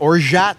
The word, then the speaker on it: orgeat: And like orgeat syrup. How do you pronounce it, Therm?